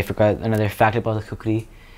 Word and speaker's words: kukri: I believe I did dong, and I also did the kukri, katar, tal katar, and tal kukri fight is what I did. Tal kukri fight. Could you explain about the kukri? Kukri is what it's pronounced.